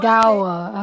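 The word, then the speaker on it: Kogawa: Kagawa.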